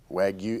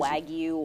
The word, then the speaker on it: Wagyu: Wagyu. Is that I always forget how to say it. I always Drives me crazy. Wagyu. Wagyu.